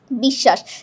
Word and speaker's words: বিশ্বাস: বিশ্বাস। দেখ এটা এটা দেখতে একই রকম পার্থক্য হচ্ছে হসন্তে। আমাদের বিষ বলার পথে কিন্তু থামতে হচ্ছে।